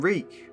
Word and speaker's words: Reek: I'm Reek. It rhymes with sneak.